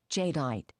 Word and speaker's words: jadeite: Imperial Green Jadite. How do you say that? Jadeite.